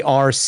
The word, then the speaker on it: Arce: they're going to hear it's a rce e pronounced RC but spelled Alpha Romeo Charlie Echo RC yes yes that's my